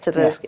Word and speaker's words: Teodorescu: And at that time, I had been training with Adrian Teodorescu. Yes, Teodorescu. It was how I pronounced his last name.